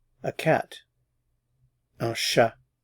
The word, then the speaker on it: chat: Un chat. Again, notice I'm not pronouncing the consonants at the end of the words here.